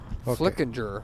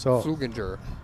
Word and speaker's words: Flickinger: Yeah, cuz I guess his last name is pronounced Flickinger, not Sugener.